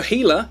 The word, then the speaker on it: Gila: to look forward to the gila yes that's how it's pronounced it's based after the gila monster lizard from south uh from southern usa and sort of mexico area is the gerstus